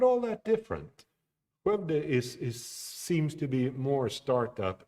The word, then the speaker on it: Skövde: Yes, that's how it's pronounced, if you didn't know. Skövde.